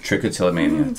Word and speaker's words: trichotillomania: me a little bit about how do I pronounce it again trichotillomania trichotillomania tell me a little bit about that yeah